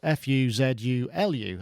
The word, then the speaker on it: Fuzulu: chap called fulu uh which is f u z u Lu as you would expect it to be pronounced uh he has won